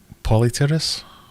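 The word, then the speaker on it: Polypterus: out the other day was it polyterrace that's what you should really call them silent p second p uh i am learning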